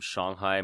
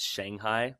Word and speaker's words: Shanghai: about an hour from Shanghai most people know it as Shanghai but I guess it's properly pronounced Shanghai they don't have a long a in Chinese so yeah I lived